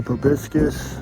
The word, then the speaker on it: proboscis: That's a proboscis, that's how you say it.